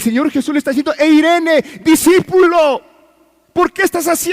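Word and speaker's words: εἰρήνη: está utilizando una palabra que se que se pronuncia eirene y el resultado o lo que quiere decir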